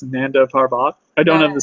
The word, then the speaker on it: Nanda Parbat: She can go, to how's it pronounced? Nanda Parbat. I don't have the spelling. Nanda Parbat, yeah.